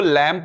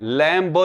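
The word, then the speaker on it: lamb: इसको लैम्प पढ़ना है, लैम्प, लैम्ब नहीं होता है, इट्स लैम्प।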